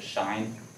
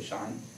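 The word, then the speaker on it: sinh: of my favorite because you pronounce it shine like when you see that you say shine anyway that's just a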